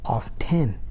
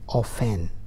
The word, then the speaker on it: often: word is of tin people say often as of 10 no need of stressing the t just say offend all right let's go